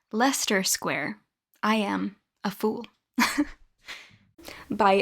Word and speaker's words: Leicester Square: It's called Farewell Leicester Square. Hello. This isn't embarrassing at all. My boyfriend just informed me that it is in fact pronounced Leicester Square.